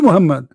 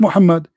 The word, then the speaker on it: Muhammad: do you say is how do you say it correctly Muhammed Mohammed Mohammed Abdullah this is his name not Mohammed what Muhammed do is Muhammad I'm by the way his name is not Mohammed his name is Cotham